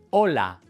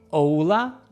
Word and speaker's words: hola: Hola. Cuando hables español siempre necesitas mantener las vocales cortas y fijas. No hola, hola.